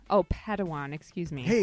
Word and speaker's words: Padawan: assigned a pad 1 to this bold Jedi pronounced Padawan Oh Padawan excuse me hey it's getting late I think